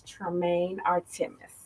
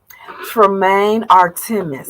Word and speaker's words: Tramaine Artre'mis: Tell the viewers your name so we can pronounce it correctly together. Absolutely. My name is Tramaine Artre'mis. Tramaine Artre'mis. Yes. Tramaine Artre'mis.